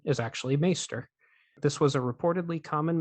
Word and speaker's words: maester: of the small Council the steward mispronounces maester as Meister the correct pronunciation is actually maester this was a reportedly